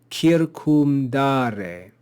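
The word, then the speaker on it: circumdare: Here we have kir, kum, da, re, 4 syllables. So it's polysyllabic. Kir, kum, da, re. And there's no long sign over this penult. Therefore, the antepenult is accented.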